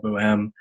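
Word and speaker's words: Bohème: at least but yeah I used to call Boheme I'm pretty sure the actual it's officially called boo em but yeah whatever floats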